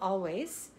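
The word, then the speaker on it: Alvvays: It's called Always. And it's kind of A-L-V-V-A-Y-S, how yes. you spell it, but the two V's kind of look like a W.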